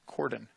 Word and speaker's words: Cordon: course you need that her name is pronounced her last name our last name is pronounced cordon so tatum caught him with